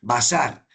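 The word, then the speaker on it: בשר: Bazar con s. Sí. En hebreo se escribe con otros caracteres. No tengo aquí la posibilidad de escribírselos en hebreo, pero eh la entre la literación y la pronunciación es bazar.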